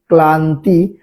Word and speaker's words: ক্লান্তি: তাহলে এখানে ক্লান্তি শব্দের উচ্চারণটা কি হবে, কয়লয়ে আকার দন্তান্ন তয়ে রস্যি সমান কি ক্লান্তি।